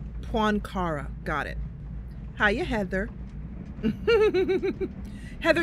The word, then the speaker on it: Poincaré: The local authorities believe that the movement is being directed from Paris, one of its objects being to interfere with President Poincaré's visit.